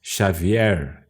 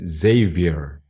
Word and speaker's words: Xavier: My name is not Xavier, as in Portuguese. My name's Xavier.